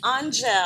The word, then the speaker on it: Angelle: Is it Angel? Angel. Angel. Yes. Like the letter pronunciation.